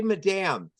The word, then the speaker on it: Madame: I was gonna ask if it was Madame or Madam. Oh, I say Madame.